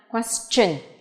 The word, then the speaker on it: question: Vậy chúng ta thấy sự khác biệt ở đây đó là từ question nó phát âm là âm ch nhá, question.